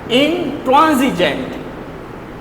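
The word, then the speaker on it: intransigent: इंट्रांसिजेंट। इसको आप जेड से प्रोनाउंस करेंगे, इंट्रांसिजेंट।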